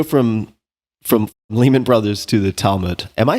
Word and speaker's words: Talmud: So let's go from Lehman Brothers to the Talmud. Am I saying that word remotely correctly? All right. Exactly correctly. Okay. Well, sorry. If you're an American, you're saying it correctly. Right. An Israeli would say Talmud.